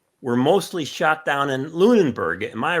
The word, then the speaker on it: Lunenburg: is that how you pronounce it Lunenburg Lunberg? Yep. Alright, and Lunenburg is well